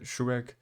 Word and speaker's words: Shuraig: Shuraig. Did I say it right? Shuraig.